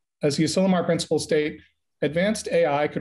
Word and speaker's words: Asilomar: is the, is it Asimilar? Asimilar. Asimilar, okay. Asimilar. Thank you. Sorry, I didn't even say it right. Asilomar.